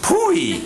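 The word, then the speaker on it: POEE: hurried up that said abbreviated p OA e and pronounced pooey nether the saloon this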